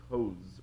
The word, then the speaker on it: Coase: the insights of the coast theorem uh for the and I believe he he pronounces his name Co rather than the way we pronounce in property Coast uh but the coast